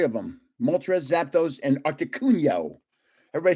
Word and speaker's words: Articuno: them, Moltres, Zapdos, and Articuno. Everybody says I say it wrong. I say it the Italian way. They go it's articuno. It's articuno. Most people can't say co.